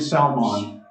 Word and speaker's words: Salmon: Boaz's father was a man named Salmon. It's spelled just like salmon. It is exactly what you think, okay?